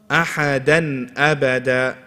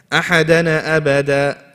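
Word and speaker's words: أحدا أبدا: So here we keep it simple. Ahadan abada. But what's the common mistake? If people rush, what will they say? Ahadana abada, and they let go of the tongue too fast. But if they hold it too long, ahadan abada, they do ghunnah. Okay, so we have to balance between the two.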